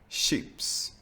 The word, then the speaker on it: chips: in a few cases, when you see CH, you should also pronounce it like sh. For example, chatta, gruppchatt, chili, bachata, chips, Chile.